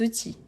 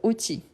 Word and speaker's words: outils: Donc, outils. Donc, les enfants ne rangent pas les outils. Outils, c'est une exception, on ne prononce ni le L ni le S.